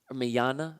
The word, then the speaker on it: Mignogna: it's still reprised by vic Mignogna manana that's how you pronounce manana alright and and so